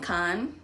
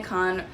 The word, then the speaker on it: Cannes: the next afternoon in Cannes. I think that's how you say it. I know the S is silent in French, so we woke up in Cannes, France.